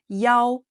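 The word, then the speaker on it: 一: Đặc biệt, khi đọc số điện thoại, số một được phát âm là "Yao" thay vì "Yi" như chúng ta đã học.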